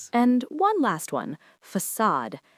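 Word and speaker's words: façade: That little tail is called a sadilla. And it tells you the C makes an S sound. The stress is on the second syllable. We say facade.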